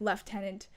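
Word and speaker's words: lieutenant: We Canadians pronounce some things weirdly and also I just sometimes mispronounce things because I like the whole like left tenant thing. That's a very British.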